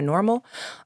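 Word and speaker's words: NORML: join us at my normal um and that's well n-o-m-d-r-l right national organization for the reform of marijuana law so it's not spelled like normal when i say pleasantries i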